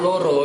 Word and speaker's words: lara: Jadi kalau loro itu tulisannya Lara. Kalau ditulis Lara. Kalau loro itu tulisannya Lara. Tapi nek loro ditulis nganggo O itu loro, berarti 2.